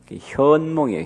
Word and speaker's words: 현몽: 근데 우리 할머니는 옛날에 한문을 잘 모르셔서 선몽이라고 나한테 가르쳐줬어요. 선몽했다고. 근데 알고 보니까 그 발음은 잘못된 거더라고요. 내용은 맞는 거고. 현몽이에요. 현몽. 꿈에 나타난 가피예요.